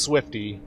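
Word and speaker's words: Wolf: You know it's pronounced Swifty, but it's spelled W-O-L-F.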